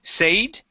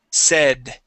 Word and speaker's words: said: And this word here, we actually use a short E with the word. Instead of saying said, it is se, said.